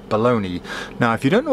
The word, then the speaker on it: Bologna: these are baloney bottles baloney spelt bULOG nut but pronounced baloney now if you don't